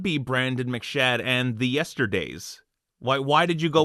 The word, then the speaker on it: Yester Daze: stuff like that so hence the name yesterday's it's three syllables it can be chanted